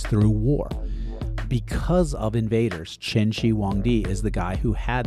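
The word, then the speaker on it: Qin Shi Huangdi: Now, it's spelled with a Q i N. Some people say Quenshi Hangd, but I was taught that it's Cheni Wong D.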